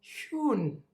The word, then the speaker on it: schön: This is how you say it. Schön.